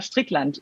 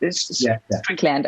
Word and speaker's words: Strickland: There are these notorious cases where, like Donna Strickland, Strickland, I guess you pronounce it in English, didn't have a Wikipedia entry up until she won the Nobel Prize.